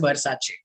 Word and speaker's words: Versace: will give that to your smartness because it's pronounced as versace all right the spelling so what he said